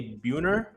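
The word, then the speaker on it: Buhner: Let's go with um I I I apologize if I mispronounced his last name. Jay Buunner. Jay Buunner is correct.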